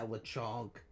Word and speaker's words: Lechonk: Yeah, Lechonk.